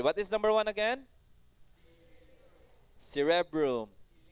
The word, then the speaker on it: cerebrum: Cerebrum. Number two, cerebellum. Okay, and number three, we have brainstem. Brainstem. Okay, very good. What is number one again? Cerebrum. C, re, broom. Three syllables. Cerebrum.